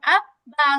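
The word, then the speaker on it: أَبَّا: হামজা বা জবর আব বা জবর বা আব্বা।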